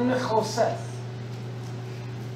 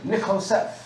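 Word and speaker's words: נחשת: And this is the word Nichoseth. That's what the word brass, that's how you pronounce it. Nichoseth.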